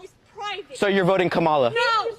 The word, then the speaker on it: Kamala: to say her name earlier you said Kamala the way she pronounces her name is Kamala you don't work with